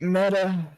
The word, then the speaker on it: Metyr: Alright, Meta. They kind of pronounce Metyr like Metyr. Metyr. Like meta.